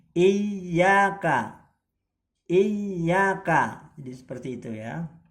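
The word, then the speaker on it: إياك: Jadi bukan Iyyaka tapi Iyyaka.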